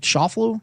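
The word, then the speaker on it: Schauffele: Scott versus uh Xander sha I never never pronounced his name right Shofu Xander Shofu uh it's a heavy juice it's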